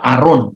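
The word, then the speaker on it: Aaron: Nah, kata Haharon adalah nama dalam bentuk maskulin Ibrani yang biasanya karena dieja dalam bahasa Yunani maka huruf H-nya itu enggak diucapkan. A Haron menjadi ee apa? Aron ya.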